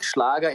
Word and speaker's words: Schlager: a German genre it's schlager music schlaga in German it's like I don't